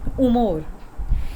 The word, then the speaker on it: humor: So María está de buen humor. H is never pronounced as H. It remains silent, and you can say María está de buen is the good, humor.